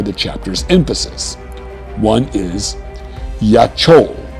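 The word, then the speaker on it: יָכוֹל: One is yachol, pronounced yakol, meaning to be able.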